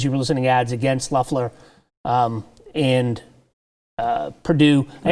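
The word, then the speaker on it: Loeffler: were listening ads against luffler um and uh purdue i actually learned learned how to pronounce her name it's luffler not loffler because i heard her say her name on the radio but um and then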